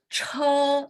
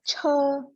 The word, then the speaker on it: 车: Ya, pronunciation benar. Tinggal anginnya lebih kencang lagi, Bu. Jadi bagus. Che. 车, Yes.